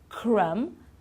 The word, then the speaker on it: crumb: of these words climb we don't pronounce the B at the end crumb lamb and numb okay so no B at the end we don't sound it at all okay now tricky consonants